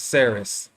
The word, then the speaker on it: Ceres: There is no letter K in the Celtic alphabet, and C has the sound of the English K. The word in Irish is pronounced Ceres, while in English it has the soft sound as Ceres.